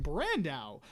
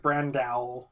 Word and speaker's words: Brando: You've been adding some odd emphasis at times where it's like Brandao.